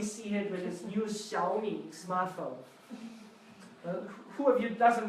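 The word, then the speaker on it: 小: This character means small, and it's pronounced xiao.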